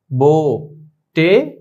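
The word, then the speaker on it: بوٹی: তারপর আমরা দেখি बोटी, बे वाव पेश बो टे ये बोटी।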